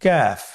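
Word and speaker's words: كاف: তৃতীয় নম্বর হরফটির নাম হলো কাফ। তৃতীয় নম্বর হরফটির নাম কাফ। কাফ উচ্চারণের ক্ষেত্রে অবশ্যই পাতলা করে উচ্চারণ করতে হবে। এবং তিন আলিফ টেনে পড়তে হবে।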